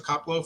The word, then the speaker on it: Koplow: So, thank you very much, Professor Caplo, for joining us.